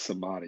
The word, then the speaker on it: samadhi: How do you spell that? Samadhi. It's samadhi, yes.